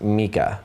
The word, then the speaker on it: Micah: Micah, pronounced Mika.